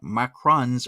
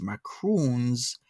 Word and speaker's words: macaron: at this you're right macaroons are a different cookie so peach peach cobbler is saying macarons or the French cookies macaroons are the coconut Jewish cookies and upon me Googling